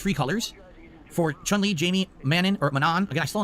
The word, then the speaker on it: Manon: Is it like Ganon or not? Is it yes, it's like Ganon, or no, it's not like Ganon? Well, just say it how I say it. Manon. How do you say the name? It's not like Ganon. It's Manon. Gotcha.